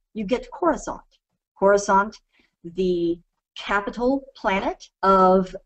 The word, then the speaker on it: Coruscant: If you look at that word, spelled exactly as it is spelled, Coruscant, and you pronounce it differently, you get Coruscant.